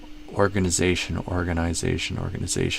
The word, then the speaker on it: organization: I usually think of it as the main stress, the primary stress being on the Z syllable. Organization. Z is the primary stress, maybe secondary stress on the OR syllable. So organ, the OR is more stress than the gin. Organ. But then the Z is more stress than the OR.